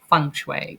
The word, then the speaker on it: feng shui: air I was checking with Shelly about the pronunciation fenue but funue I kind of get it a little bit. So funue funue.